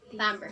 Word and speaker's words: timbre: is tone color or it's stamber it is pronounced as amber say that again yeah okay so tone color